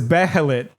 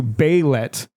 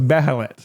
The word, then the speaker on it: Behelit: So the word is behelit, which is one of the things in Berserk, and they're correcting me to Beilet, and that's just not right. Like the original Japanese is beherito, so it's behelit.